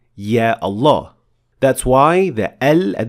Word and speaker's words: Allah: Well, the word Allah does have a dagger Alif, simply because we pronounce it. We say Allah. We don't say Allah.